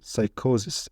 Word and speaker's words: psychosis: ofy or physical activity PS that pronounced s for example psychosis it's a mental disease